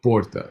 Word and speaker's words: porta: the penultimate uh syllable so Porta you would stress the oh here instead of Porta if it had the accent here it would be puta but does that is that